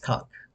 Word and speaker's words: conch: uh she she corrected me and said it's conch like oh conch s and she described what it was uh